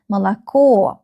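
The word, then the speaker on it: молоко: The last syllable is stressed. You can see the stress on the last O in this word. Malo.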